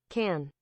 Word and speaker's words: Cannes: Can. Can. Okay, the S is silent. Is French. You're not supposed to say the S at the end of cans. It's just can.